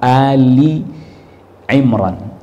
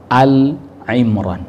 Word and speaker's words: Ali Imran: Ali Ali Imran ya Jadi yang benar surah Ali Imran cara bacanya begitu Bukan Al Imran bukan kalau Albaqarah betul Albaqarah itu betul Almaidah betul Almaidah betul alan'am betul tapi kalau untuk Ali Imran itu bukan Al tapi Ali maka cara penulisannya dia